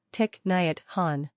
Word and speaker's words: Thích Nhất Hạnh: practice mindfulness and meditation the English pronunciation of his name is tick net Han Miracle of mindfulness this